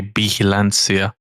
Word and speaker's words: vigilancia: You know, It's V. It's V as it in is V, Victor. right? Okay. Yeah. So then I was saying it correctly. But that lady was saying it with a B.